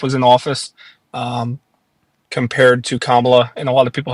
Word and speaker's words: Kamala: away from, I don't want to say her name wrong, Kamala. Is it Yeah, Kamala or it's Cam? it's Kamala.